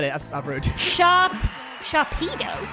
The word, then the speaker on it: Sharpedo: Sharpedo. Yeah, it's how it's said. What do you think? Sharpedo. It's like a torpedo.